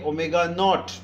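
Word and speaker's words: ω₀: Similarly जब u की बात करते हैं तो u is your initial velocity, तो यहाँ पर आप इसे लिखेंगे ओमेगा और नीचे 0 लगाएंगे और इसे प्रोनाउंस करेंगे ओमेगा नॉट.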